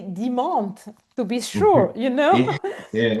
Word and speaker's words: Demont: Just the pronunciation is very different. Yes, it's just and the E or Demont, my name is not Oh my God, Demont.